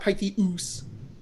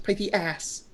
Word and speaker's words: Pythias: It's not Pythius. Well, It's Pythias.